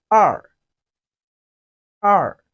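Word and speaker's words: 二: remember the number e 2 in chinese is pronounced as r r it has the falling tongue which is the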